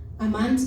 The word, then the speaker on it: amán: Esta misma palabra fidelidad en el griego, que es la palabra amán, significa, amán, acento en la segunda A, dice confiar, estable, fiar, fiel, firme, lealtad, permanecer y seguridad.